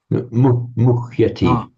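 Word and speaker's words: मुह्यति: Muhyati. Na murati. Muhyati. Murati. It's the root is muh. And the H has to be distinctly pronounced as an independent freestanding syllable. So muh. And it's muhyati. Muhyati.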